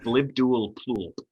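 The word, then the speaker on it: Blibdoolpoolp: it's pronounced blibdual plulp. Yeah, It's supposed to be the sound of water dripping.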